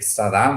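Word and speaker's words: Sadin: Lo mismo ha hecho un un filósofo francés que les recomiendo lean, no es muy conocido, es Eric Sadam, se escribe Sadim, se pronuncia Sadam, que ha hecho un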